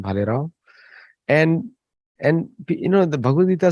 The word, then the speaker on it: Bhalerao: Parag Bhalerao. That's how pronounce his name, Bhalerao.